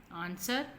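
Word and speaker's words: answer: और एक साइलेंट है आंसर आंसर में डब्लू साइलेंट ओं कि रीड द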